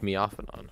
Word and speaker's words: Miofanon: It's pronounced Miofanon. I don't know why, but it is.